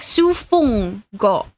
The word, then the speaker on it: 数分後: Okay, it would be like Sufung-go. They would say it like that.